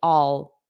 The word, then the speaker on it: I'll: the pronunciation is weird it is weird because it's unstressed so the unstressed then natural way of saying this is all all all I'll do it I'll help you so